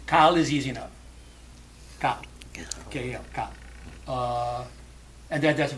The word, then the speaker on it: Kal: And so that's what most people have done to so it's two syllables. Kal is easy enough. Kal.